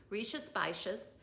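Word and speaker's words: Rías Baixas: in an area called rishis vicious it's a funny name it's not spelled the way it sounds but that's the way it's pronounced richa spicious albarino the name of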